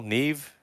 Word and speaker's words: Neve: waffle prints, decent T-shirts, and Neve And Campbell. Neve, is that how you pronounce that? Nev. Nev.